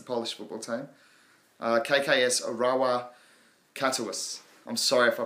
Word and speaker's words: Katowice: So that shows you how good I am at my foreign pronunciation, but it's Katowice.